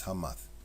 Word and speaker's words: Hamath: It's spelled Hemeth, but it's Hamath, which is here.